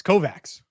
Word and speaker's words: Kovacs: before I said anything according to Big 10 Network it's Kovac so we were there's no no CH the pronunciation there so that that's Big